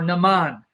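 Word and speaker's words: Naaman: the army of Syria his name was nonon or Naman Naman or namon however you want to pronounce it now Syria was one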